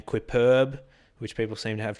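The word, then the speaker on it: Quippurb: periodically under the name quip perb which people seem to have trouble pronouncing and reading so it's qu I double P u RB clipper beYOU can just think of it like superb quips and it's sketch comedy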